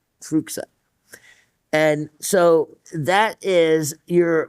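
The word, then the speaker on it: fuchsite: A lot of people used to pronounce it fuchite just because well, even that one you had to be careful with it sound, but that's not his name.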